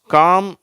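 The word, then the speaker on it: calm: என்ன உச்சரிப்போடு வருதுன்னு பார்ப்போம் காம் பாம் எல் ஃபில் இந்த ரெண்டு வார்த்தையில எல் வந்து சைலெண்ட் ஆயிடுது ஓகேவா இந்த வார்த்தைகளை உச்சரிக்கப்படுகிறது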